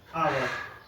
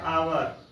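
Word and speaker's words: hour: हुआ, भवेल से शुरू नहीं हुआ, जैसे ऑनेस्ट, आवर। देखिए ये दोनों ऐसे वर्ड हैं जो भवेल से शुरू तो नहीं हुआ, लेकिन इसका जो उच्चारण है वो ऑनेस्ट, और इसका है आवर।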